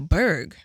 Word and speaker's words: Burgh: I'm from the Berg. Newburgh. Okay, I'm from the Berg, but that has like a special meaning. First of all, the Berg is spelled B-U-R-G-H, short for Newburgh, in